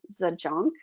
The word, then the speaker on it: Zajonc: So Stephen Cartman created the drama triangle in 1967, and then our colleagues David Emerald and Donna Zajonc, is that how you pronounce her last name?